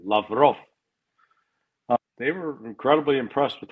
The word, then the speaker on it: Lavrov: Sergei, Ray McGovern emphasis is on the last syllable, Lavrov.